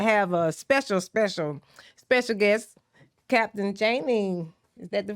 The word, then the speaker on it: Channing: This is the Shanny Jackme show, and I have a special guest, Captain Channing. Is that the right way to say it? Yeah, it's that Channing, but yeah, Channing.